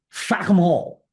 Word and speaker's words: Fackham Hall: Peckham Hall. I believe it's pronounced Fackham Hall.